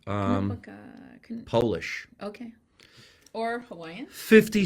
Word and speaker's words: Konopka: Konopka. It's Knopka.